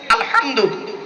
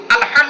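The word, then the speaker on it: الحمد: কথা বলেন আমার সাথে আলহামদুলিল্লাহি রাব্বিল আলামিন আলহামদু উচ্চারণটা ঠিক শিখে নিন আলহামদু আলহামদু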